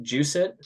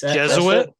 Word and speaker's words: Jesuit: uh noblemeyer from uh I think this is pronounced juice it high school or just Jesuit Jesuit wow does it it's just it is it just we have Jesuit pronunciations it's just it